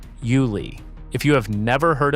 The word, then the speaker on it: Yulee: Say it the way locals say it. Yulee.